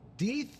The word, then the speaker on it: Deth: And it makes people ask the question, how do you pronounce the name? Deth.